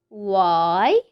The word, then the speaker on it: why: we have why why we hear the sound of the letter w but we don't hear the sound of the letter h the letter appears in the word but we don't hear it here we have what